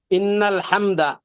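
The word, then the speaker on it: إن الحمد: তো এই যে দুইটা বড় ভুল হয়, ইন্নাল হামদা বড় হা দিয়ে ইন্নাল হামদা ওয়ান নি'মাতা ওয়ান নি'মাতা ওয়ান নি'মাতা লাকা ওয়াল মুলক লা শারীকা লাক।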